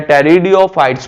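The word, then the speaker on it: Pteridophytes: सा हमारे पास दूसरा जिसका नाम है टेरियो फाइट्स पीस में साइलेंट है इसे क्या नाम देंगे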